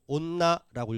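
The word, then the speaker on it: おんな: 이때 오응나인데 뭘로 발음하냐면 온나라고 읽어 줘요.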